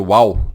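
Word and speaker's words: ו: Um grupo por exemplo, de judeus que vieram de um país que era islâmico, dos árabes, pronuncia de um jeito o som do Vav, né? Pronuncia Uau, né? E outros que vieram da Rússia, por exemplo, pronunciam Vav com V. E o correto, o mais antigo, é V, som de V ou WV.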